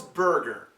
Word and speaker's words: burger: American pronunciation a McDonald's burger okay now this is another word you have to be very careful with if you do not use the r sound it sounds like booger whoops b o o g